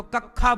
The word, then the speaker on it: कक्षा: कुछ होता है ना, जैसे छा है, कक्षा, तो कक्षा बोलेंगे, कक्षा बोलो, कक्षा। तो कुछ लोगों से छा का उच्चारण नहीं आता, तो कक्षा बोलते हैं।